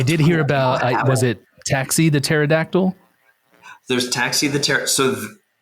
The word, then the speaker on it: Ptaxi: So there's a mail sorting room, and it will, it's in the background, and it says Taxi says, and it's spelled PTAXI for like a pterodactyl.